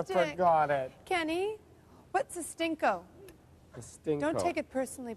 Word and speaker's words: stinco: now attach to the I'm sure it's pronounced a different way than that a stinco stinco stinco a stinco a stinco okay what I've done here